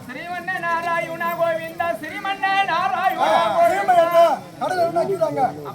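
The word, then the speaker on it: ஸ்ரீமன் நாராயணா: பாதத்தை நான் வணங்க வேண்டும் உன்னுடைய பெயரை சொல்லி நான் உச்சரிக்கிறேன் தவறாக இருந்தால் என்னை மன்னித்தருள வேண்டாம் சாமி சொல்ல வேண்டுமா சொல்லுங்க சுவாமி ஐயா சீமன்னு வாயா என்ன ஸ்ரீம நாராயணா அப்படி சொல்றா தெளிவா என்னவென்று தெரிவித்தாய் ஸ்ரீமன்ன ஸ்ரீமன்ன நாராயணா ஸ்ரீமன்ன நாராயணா கோவிந்தா ஸ்ரீமன்ன நாராயணா கடலக்கறாங்க அப்படியா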